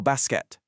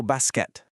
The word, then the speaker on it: basket: So, the phrase is je joue au basket. Listen to the native pronunciation and pay attention to how crisp that T is at the very end. Your turn. Je joue au basket.